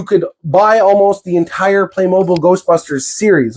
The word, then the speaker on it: Playmobil: bad boys, Playmobil or Playmobile, as some people pronounce it. I'm not sure the official pronunciation, but I mean, no E there, so it shouldn't be Playmobile. It should be Playmobil.